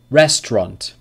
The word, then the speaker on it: restaurant: two syllables number six restaurant restaurant restaurant two syllables and number seven number